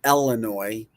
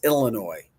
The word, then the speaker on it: Illinois: It's not Illinois. It's Illinois.